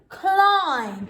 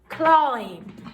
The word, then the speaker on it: climb: they make clear climb as in i have to climb up the ladder climb remembering that b is silent climb next one we've